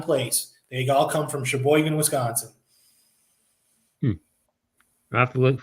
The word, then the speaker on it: Sheboygan: Yeah, that's how that's pronounced, Sheboygan.